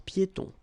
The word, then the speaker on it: piétons: Final S here, not pronounced, and then final not pronounced. Un passage pour piétons.